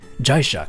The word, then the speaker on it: Jaisha: i love it also you pronounced my name right on the first try jaisha cause i guess it's kind of like japanese sort of jaisha but